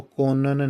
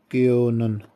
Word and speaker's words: können: نہیں پڑھنا، ٹھیک ہے، اس کو کونن نہیں پڑھنا، اس کو یوں پڑھنا ہے کیونن، ٹھیک ہے، زبر اور ادھر بھی زبر، ٹھیک ہے۔ کیونن، لیکن کیوں نہیں پڑھنا، کیونن، یہ صرف آپ کی تلفظ بہتر کرنے کے لیے بتا رہا ہوں، ٹھیک ہے۔ اس کو